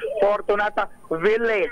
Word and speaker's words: Fortunata Village: Pag binabanggit yung village, dapat may may diin. Fortunata Village. My village, ayan. Medyo social ang pronunciation.